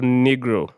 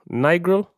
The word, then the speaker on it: Nigro: hitboy Metro boomman and Daniel negro Nigro sorry when when I when when I get that pronunciation right yeah well it's n i g r o n I grow N I grow you see what Daniel